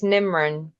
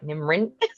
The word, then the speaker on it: Nimran: It's so funny because I feel like when I say it properly, then when someone says it back to me, it's almost like they are saying RIN, like NIMRIN.